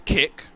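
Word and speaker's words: Kik: Kick is such a bad name for that streaming service because there's already a Skype clone called Kick that's spelled K-I-K that's used by like 13-year-old kids.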